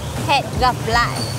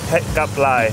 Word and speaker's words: hẹn gặp lại: Het gặp lại. Het gặp lại.